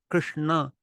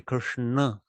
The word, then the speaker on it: Krishna: for example the word Krishna Krishna the whole word has the tongue folded up on the roof of the mouth Krishna so it's just easy